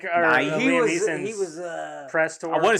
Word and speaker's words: Neeson: Don't say Liam Neehy. Neeson.